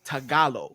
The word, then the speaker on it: Tagalog: of the language is tagalo right yep you got it okay but it's it's spelled t a g a l o g correct yep so it's Tagalog but it's pronounced tagalo yeah yeah I mean